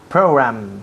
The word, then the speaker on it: program: Program. Yes. Program. Program. Y la última letra aquí es una M. Program. Los labios tocan.